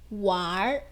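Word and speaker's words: 玩儿: 그 다음 완 하면요. N으로 끝났어요. R을 붙였죠. 그런데 어떻게 N을 뺀다라 그랬어요. 그래서 와에 어를 붙여요. 왈 이렇게 된다는 거죠. 그래서 wan을 하면 안 된다라는 겁니다.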